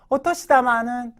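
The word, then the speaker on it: お年玉: 된다는 겁니다 자 예문 한번 보겠습니다 오가니 오가니 오토시다마 오토시다마 뭐라 마다라 그랬어요 자 정월이라 써놓고 이건 설날을 얘기하는 거겠죠 설날에는 일본의 설날에는 오토시다마 세뱃 돈이에요 세뱃돈을 몰라이 마시다 받았습니다 아 그죠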